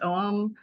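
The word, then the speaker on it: ogham: is the spelling but it's in Irish pronounced as om uh um yeah um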